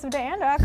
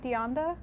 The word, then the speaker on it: DeAnda: All right, next up, I have the one and only Crafty Joseph DeAnda.